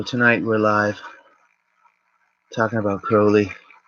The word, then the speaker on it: Crowley: Yeah, so tonight we're live talking about Crowley, rhymes with holy, Pederabo, frater something.